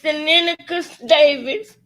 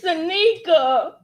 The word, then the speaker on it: Sanika: I've been saying Seneca Davis. It's Sanika. What the fuck?